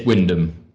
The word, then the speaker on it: Wyndham: Sorry, I can't pronounce the name. I missed the start. How do you say your name? It's Wyndham.